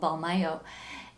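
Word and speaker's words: Mbalmayo: in a town called balmayo and that's spelled with an m as in mic and a b as in bravo for the first two letters it's called ball mayo and and so i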